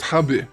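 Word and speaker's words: ハブ: snaking wires but also in japanese herb is pronounced habu and habu refers to certain venomous snakes in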